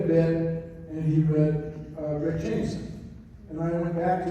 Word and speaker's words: Jameson: Now, Pat Cashman read the bit, and he read Rick Jameson. And I went back to him, Pat, this is really important to me. I want Rick Jameson to have 3 syllables. So, it's like Clint Eastwood